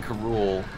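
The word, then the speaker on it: K. Rool: at that time uh they didn't have an established pronunciation for king k rool's name king karul i like that though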